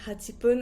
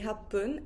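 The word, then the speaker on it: はっぷん: Also with 8, I don't say hachipun. I say happun.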